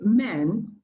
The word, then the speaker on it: men: No es man ni es men. Es una mezcla entre A y E.